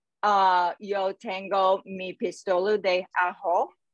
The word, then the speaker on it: ajo: It's pronounced ajo.